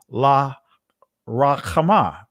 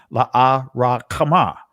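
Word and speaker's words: Lo-ruhamah: And the Most High said, call her name Lahuhaman, or La Rakhamah. That's the proper ancient pronunciation. La Rakhamah.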